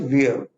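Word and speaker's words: veer: ठीक है, next word is वियर। Hindi में वीर नहीं पढ़ेंगे, इसको वियर पढ़ेंगे, आर साइलेंट होता है इसका।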